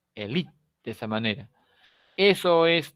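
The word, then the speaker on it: élite: Si esta palabra la leo como castellano, tendría que decir elite. Esto sería elite, pero ninguno de nosotros lee elite. Leemos elite. La E se suprime. Hacemos acento en la I, elite, de esa manera.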